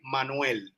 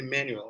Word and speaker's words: Manuel: uh my name is manuel so i don't know how i don't know how you say it in english but in spanish we say manuel you can say manual right yes that's right